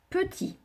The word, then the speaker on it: petit: Petit. On fonctionne syllabe par syllabe. Peu. Ti. Alors, là, deux choses. Je sais qu'à la fin du mot petit, il y a un T muet.